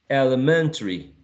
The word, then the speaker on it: elementary: Many of these are going to sound like elementary, elementary. So if you say elementary, 4, elementary, elementary, 5 syllables, right?